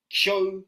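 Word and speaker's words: Kyō: Kyo, similar to myo.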